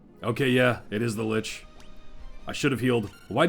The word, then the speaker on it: Lich: who cares um Nukem Lich rhymes with snitch glitch